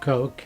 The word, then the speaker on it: Koch: I'm Richard Koch, and that's spelled K-O-C-H since it can be pronounced in many ways.